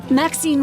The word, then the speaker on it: Maxine: Maxine rhymes with queen after all.